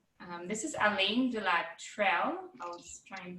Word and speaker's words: Trelle: I believe it's closer to like the word tree. You can put a little on the end, tria. There we go. Alain de la Trelle.